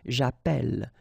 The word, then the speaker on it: appelle: in the previous video, if you have double L like that, it will affect the pronunciation of the E. So actually it will open the sound, and that's the reason why you will get the sound E, okay? J'appelle, j'appelle, alright?